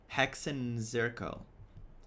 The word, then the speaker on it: Hexenzirkel: Hexenzirkel.